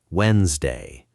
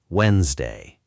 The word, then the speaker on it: Wednesday: Wednesday. Wednesday. Wednesday, Wednesday, Wednesday. Say it a few times and really resist the urge to pronounce that first D, even though your eyes keep insisting it's sitting right there on the page.